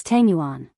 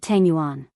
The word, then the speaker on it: Tanguan: Ching Chimo glared and said angrily, "It's Tanguan, not Tangguan, what is going on in your head all day long."